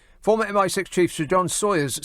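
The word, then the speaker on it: Sawers: Former MI6 chief, Sir John Sawyers. Sawyers. S A W E R S Sourers. No, no. Sawyers probably. Is that how you say it? Sour. Sawyers. Because it looks like Sour.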